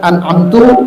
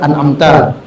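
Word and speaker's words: أَنْعَمْتَ: Mengganti di sini diantaranya dhammanya kalimat an'amtu atau an'amti, yang benar kan an'amta.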